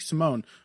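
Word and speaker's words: Simón: moment all the time Ricky Simone is how they are pronouncing it I thought it was Ricky Simon but Ricky Simone versus me robbed Wallisch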